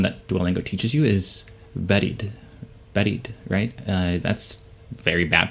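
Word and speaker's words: بارد: duolingo teaches you is buried that's very bad pronunciation but it's it sounds very much like buried right buried under the sand or underground and i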